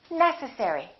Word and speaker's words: necessary: you say this one is it necessary necessary or necessary it's the first one necessary let's do the last